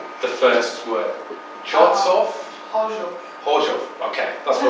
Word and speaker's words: Chorzów: So how would I pronounce the first word? Chorzów? Chorzów.